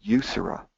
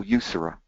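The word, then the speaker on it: Eucera: bees in the genus you Sarah and you'll notice with these Latin names that / solitary bees the genus often is fairly looks just pronounced the way it looks so you Sarah pretty easy easy to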